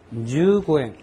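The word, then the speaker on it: 十五円: 15엔이라고 하는 것을 일본식으로 발음을 하면은 주고엔입니다. 주고엔.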